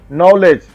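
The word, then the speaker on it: knowledge: नॉलेज means इस शब्द में के है पर साइलेंट है।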